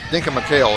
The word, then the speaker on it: Denka McHale: Denka McHale, that's the way she pronounces her name.